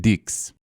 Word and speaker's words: dix: In French, the number 10 is pronounced dix.